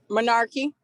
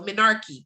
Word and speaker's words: menarche: each month this typically it's been monarchy is it you said some of these words i haven't seen so are in a while so i was saying it wrong in my head when i read it the first time all right sorry y'all so menarche correct so administration begins with